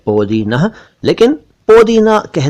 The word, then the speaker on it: पोदीना: ये बता दूं कि ये शब्द ठीक नहीं है, सही शब्द है पोदीना। वैसे उर्दू में पोदीना लिखा जाता है, क्योंकि फारसी में यही इसका रूप है, पोदीना, लेकिन पोदीना कह दें तो भी चलेगा।